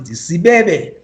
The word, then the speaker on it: Sibebe: One of which is that we have the largest granite rock formation in the world, and it's called Sibebe. I hope you can pronounce it, Sibebe.